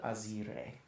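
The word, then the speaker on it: Azyrre: She was called Azer. And above table that is spelled A Z Y R R E.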